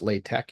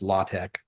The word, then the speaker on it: LaTeX: latch l l aex looks like latex but it's pronounced latch usually or sometimes it's pronounced latch I've never been quite